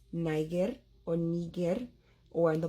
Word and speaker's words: niger: Now, classical Latin has a hard G. So this word, though it's spelled the same way you spell the country of Niger, which was colonized by the French, it is not pronounced that way.